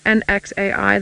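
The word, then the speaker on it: Nxai: especially at my pens I'm not pronouncing my pants correctly it's nxa I there is a bit of a click sound in there and I can't do it very well let me just duck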